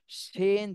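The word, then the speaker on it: শীন: এটা হলো শিন, জিহ্বার মধ্যখান উপর তালুর সঙ্গে লাগবে, কিন্তু শাসা শব্দ হবে। শিন তালবস্য উচ্চারণ, তালবস্য উচ্চারণ করতে যেভাবে শব্দ হয়, শাসা শব্দ হয়, ওইভাবে শাসা শব্দ করতে হবে।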